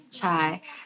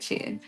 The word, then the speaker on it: chia: I'll say chia, chai. Is it chai? No, I did it right. I think I said it right. Chia, my flax seeds, and I will literally blend them all up.